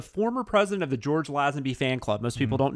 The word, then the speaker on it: Lazenby: Hello, and as all fans know, his name is pronounced Lazenby and not Lazenby. So I even have that in my notes, and I still said it wrong. Although it could be one of those things where it's like, oh, you're so very British, aren't you? You have to make the long A in something that looks like a short A when you look at it.